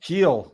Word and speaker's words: Gil: your your one of your aces are pitching Gil or how do you say his name heel Luis heel ke's ke's going and the reds